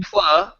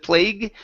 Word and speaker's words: plug: play You intro can plug can plug instead of plague can plug okay can plug you into